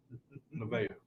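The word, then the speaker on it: Nevaeh: Naveah. There you go. How do you spell it?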